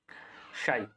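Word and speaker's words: ψ: इसके क्या बोलते हैं, इसको बोलते हैं हम शाई, ठीक है। ये पी जो है, पी रहता है यहाँ पर साइलेंट, ठीक है, इसको क्या बोलते हैं हम, शाई, ठीक है।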